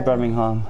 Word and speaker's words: Birmingham: The English pronounce it differently from me, so I say Birmingham, like an American.